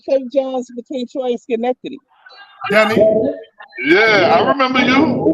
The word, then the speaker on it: Schenectady: Nah, you said it right, Schenectady.